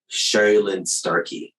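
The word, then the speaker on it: Sherrilynne Starkey: have with me today the one and only Cheryl Lynn Starkey did I pronounce your name correctly you did indeed gold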